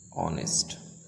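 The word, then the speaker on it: honest: एंड ऑनेस्ट एंड ऑनेस्ट इसमें ए silent है याद रखें ऑनेस्ट नेस्ट नहीं नेस्ट है अगर कोई चीज बहुत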